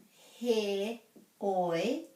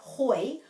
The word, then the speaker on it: heoi: So he oi, oi rhymes with poi, he oi, and this is heoi, heoi. So it's not hoi, although hoi anō can also mean however, but when it's spelled with the E, it's heoi, and I prefer that one myself.